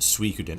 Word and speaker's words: Suikoden: Pronounced Suikoden.